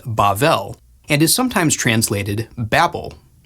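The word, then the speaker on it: בבל: Babylon in Hebrew is pronounced Bavl and is sometimes translated Babel.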